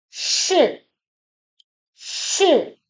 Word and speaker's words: 是: We pronounce shi with a falling tone, the fourth tone. In Mandarin Chinese, it's like a sharp drop in your voice. Just like this. Shi. Shi.